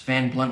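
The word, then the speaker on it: Van Blundht: It's Van Blunt with a silent H. B-L-U-N-D-H-T.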